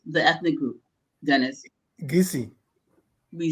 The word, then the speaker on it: Kissi: And if you think about it, we spell it um, Kissi, but nobody really says Kissi, right? Right. How do you actually pronounce the ethnic group, Dennis? Gisi. We say Gisi.